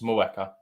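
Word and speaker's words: Mheuka: Not Mer. I think it's Mweka.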